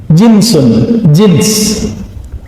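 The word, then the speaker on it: جنس: Jinsun, jins. Pakai jins nggak Pak? Itu beda lagi ya. Jins itu bacanya ya. Kalau ini jinsun, jim nun sin.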